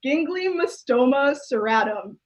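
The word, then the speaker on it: Ginglymostoma cirratum: i googled it to make sure i can pronounce it correctly it's gingly mystoma serratum and gingley just makes me laugh gingly seems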